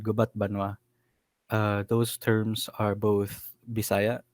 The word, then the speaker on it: Gubat Banwa: And you told me the pronunciation earlier. I am going to try my best. Gubat Banwa.